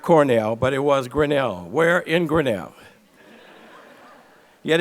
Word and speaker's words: Grinnell: that it was not Cornell, but it was Grinnell.